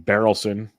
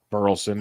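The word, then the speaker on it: Burleson: or or I mean barrelson burlson depends on how you want to pronounce it um and Newar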